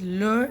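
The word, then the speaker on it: leurs: And lastly, for il and el, masculine singular and feminine singular it is leur, and plural again leur, just s is added but it is not pronounced.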